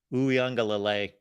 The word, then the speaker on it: Uiagalelei: Uiagalelei. There we go. There's the pronunciation at the end.